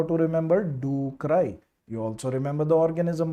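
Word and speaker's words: ducreyi: for duay shro and the word is do cry if you want to pronounce it better because it is painful leion hopus duay shank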